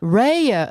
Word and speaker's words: Raya: Raya.